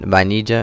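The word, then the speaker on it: vainilla: or strawberry ice cream notice that um there's an i extra eye in banija in spanish it's not just a i is i that's the sound so now we're going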